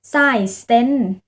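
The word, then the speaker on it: seksten: อย่าง เลข 16 ค่ะ เขียน ว่า SE แต่ ว่า เวลา เรา อ่าน จริง ๆ เนี่ย เรา อ่าน ว่า S stent นะ คะ แล้ว ก็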